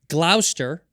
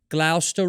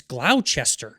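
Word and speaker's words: Gloucester: to live off of the tube stop its Glouster right is how you pronounce it Glouster Road but it's spelled Glau Chester oh yeah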